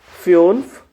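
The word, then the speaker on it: fünf: S east five को क्या बोलते हैं अभी फ्यून देखो उमलाउट लगाना ध्यान में रखना अभी यू के ऊपर उमलाउ आएगा एस ईस्ट फ्यूनफ नाक आ और देखो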